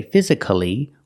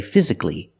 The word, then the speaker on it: physically: it we don't say physically we say physically why because when you see c-a-l-l-y at the end of a word the a is almost always silent we pronounce it not